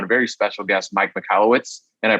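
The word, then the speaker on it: Michalowicz: Today we have on a very special guest, Mike Michalowciz, and I pronounced that right, correct?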